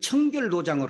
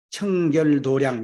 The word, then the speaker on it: 청결도량: 소와 양을 썼고 불도에서는 청결도장을 하고이 불교에서는 도장이라고 읽지 않아요이 마당장 자를 양이라고 청결도량 이렇게 있습니다 그리고 손에 염주를 쥐고